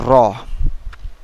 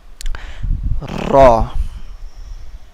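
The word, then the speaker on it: راء: to next letter now this letter name is raw raw okay round your lips and then pronounce raw raw the spelling of this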